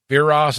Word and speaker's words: Viras: Viras is how you say it.